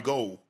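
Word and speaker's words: Gould: They called him Robbie Ghoul when he was at Chicago. He said, you know, you I know you guys have been calling me Robbie Ghoul for a while, but actually my name is Robbie Gold, right?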